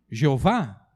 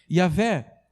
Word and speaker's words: Yahvé: Alguns chamam de Jeová, mas é provável que Jeová não seja... Jeová é pronunciado com outras vogais que não são as vogais originais. Então, de fato, o nome de Deus é Yahvé.